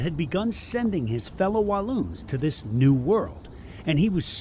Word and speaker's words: Walloons: It rhymes with balloons. Saloon. No, it starts with a W. Walloons. Walloons, which just means a